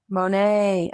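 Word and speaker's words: Monet: It rhymes with Goan. Mo Monae. Monae. Oh, of course Monae.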